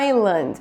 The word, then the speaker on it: island: por exemplo a islândia island na hora que você vê a escrita tem um s aqui que desaparece na hora de falar esse som são saillant